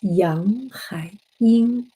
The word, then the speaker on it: Yanghaiying: Same pronunciation, yang. Hai is a little bit like a hi. Ying is like a Ying.